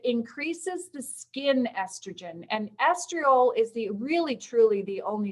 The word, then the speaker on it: estriol: Get yourself a prescription, and if you've got a pen handy, for 0.5% estriol, and I'm going to spell it for you, E-S-T-R-I-O-L.